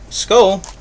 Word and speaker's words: Skoal: Apparently, Skoal is literally how it sounds.